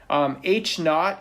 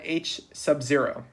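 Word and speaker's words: H₀: with a little zero h naught is how you say this or you can call it h sub zero the alternative hypothesis is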